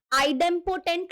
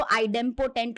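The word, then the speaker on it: idempotent: लॉ का नाम है आईडम पोटेंट लॉ ठीक है इसको कोई मतलब अलग-अलग प्रोनाउंस करते हैं टीचर्स तो मैं तो इसको आईडम पोटेंट लॉ प्रोनाउंस करूंगी अब यहां पे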